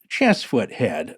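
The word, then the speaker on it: Cheesefoot Head: to point out that cheese foot head is actually pronounced chest foot head by true locals i was mocked by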